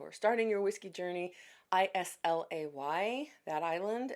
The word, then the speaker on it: Islay: And again, those of you who are starting your whiskey journey, I S L A Y, that island, it's pronounced Islay, and it's most well-known for its heavily peated um Scotch distilleries.